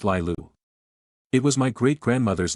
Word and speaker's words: Laya: Ever since I was a teenager, I've loved the name Laya, pronounced Lilu.